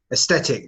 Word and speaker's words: aesthetic: How do you pronounce this correctly? Aesthetic. That's right. It's a hard T.